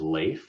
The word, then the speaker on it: Leif: My name is Leif, which rhymes with safe.